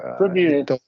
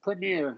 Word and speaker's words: premier: Premier. You can do a schwa. Premier. Yeah, for the first syllable.